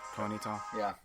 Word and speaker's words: Ponyta: Ponyta.